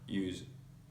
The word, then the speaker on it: use: it like a Z, and also when it is at the end of the word and before a vowel sound, you need to pronounce it like a Z. So for example, in use, yeah.